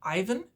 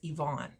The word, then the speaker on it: Ivan: spelt is ivan and a lot of people would pronounce that ivan but in ukrainian it's yvonne so he has been